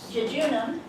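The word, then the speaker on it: jejunum: dadum sometimes pronounced duodenum junam pretend you're talking about summer and stuttering Jun and ilum sounds the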